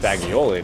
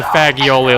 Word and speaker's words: fagioli: And I mistakenly pronounced fagioli the first time before I realized what it actually was.